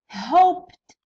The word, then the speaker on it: hoped: Next used، used the used adjusted id adjusted hoped hoped to يقبلها ال p hoped impressed impressed to كيف كيف خاطر قبلها س كيكون قبل س قبل الايدين نطقوها to impressed.